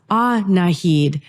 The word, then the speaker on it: Annahid: Actually, my mom's name is pronounced Annahid.